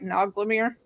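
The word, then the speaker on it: Nauglamír: Finn Rod's necklace um I'm gonna not pronounce this right nog lamir is that is that right no yeah correct that's correct that's correct so he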